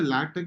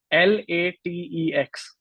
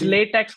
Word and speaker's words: LaTeX: Is it a LaTeX? Is a free one or they have to pay it? Yeah. LaTeX is free. It's essentially a programming language. Or can you spell it again to our audience? LATEX.